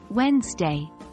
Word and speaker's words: Wednesday: Wednesday is pronounced as Wednesday this is an example of a word where we don't pronounce all the letters we see English is full of